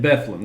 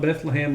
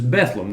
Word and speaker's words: Bethlehem: And that is the way you say it, Bethlehem, not Bethlehem like we read it in the Bible. This is Bethlehem.